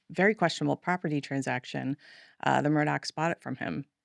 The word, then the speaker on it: Murdaugh: It looks like Murdaugh, but it's Murdoch.